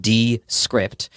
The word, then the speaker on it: Descript: started using it's called descript it's spelled d s c r i PT like descript uh it's good for